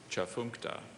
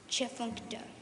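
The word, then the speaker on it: Tchefuncte: Are there any alternate pronunciations? There are not. Part speech. Adjective. Can you please repeat the word? Chafunkta. If you haven't seen it, how would you ever guess it? Chafunkta. T-C-H-E-F-U-N-C-T-E. Chafunkta.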